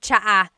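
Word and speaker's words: tsaa: Cha in Tagalog is T like the tea that you drink. And it's spelled T S A. Cha. Cha. That's such a Tagalog spelling. I love it. There's the TS sound and then the double vowel uh pronunciation.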